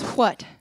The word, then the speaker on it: what: the word what that in my California dialect of English is just W. But there's a reason that W, H in the word what is spelled that way, because further back or even somewhere else, still spoken, sorry Leanne, it's what.